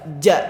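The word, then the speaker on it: ج: Ja itu kayak terhenti. Si nafas itu enggak keluar karena huruf ja itu kayak huruf yang menghentikan nafas sesaat.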